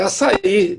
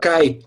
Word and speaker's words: açaí: É açaí. Tem americano que pronuncia cai, porque não tem a pronúncia, né?